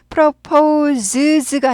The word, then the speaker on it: proposes: 단수 현재일 때 동사에 s를 붙여서 proposes가 아니라 proposes. 발음은 propose에서 z로 바뀌는 거죠.